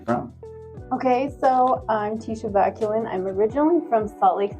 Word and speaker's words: Vaculin: Vaculin.